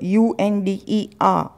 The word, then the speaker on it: under: अंडर, अंडर, UNDER, तो आर को यहाँ पे आपको साइलेंट रखना है।